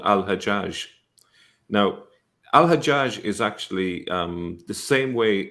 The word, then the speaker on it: Al-Hajjaj: Hagag is the Jewish version of that, and it's still pronounced that way, Hagag, in some Arab countries, such as Egypt.